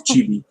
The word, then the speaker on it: chibi: I always pronounce that wrong. It's chibi.